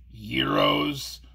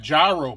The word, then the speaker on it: gyro: I was thinking about Freshley's Gyros in Willoughby. What's a... Oh, you're talking about that gyro place on Euclid Avenue? Yeah, it's pronounced Gyro, Joe. No. It's spelled G-Y-R-O. It's called Gyro.